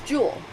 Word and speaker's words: joule: it's large j and it's pronounced joule like jewelry or kilojoules is what's